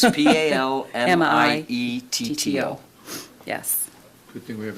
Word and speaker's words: Palmietto: It's Palmietto.